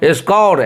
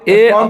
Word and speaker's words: scour: Onwards please try to start using this word स्कोर, SCOUR। और यहाँ पे देखिए स्कोर को आप वर्ब की तरह भी यूज कर सकते हैं और नॉन की तरह भी यूज कर सकते हैं।